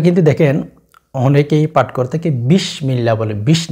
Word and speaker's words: বিসমিল্লাহ: কেমন জানি হয়ে যাচ্ছে তো সেজন্য বিষ বলবেন না বিস সিন উচ্চারণ করবেন আর কি বিসমিল্লাহির রাহমানির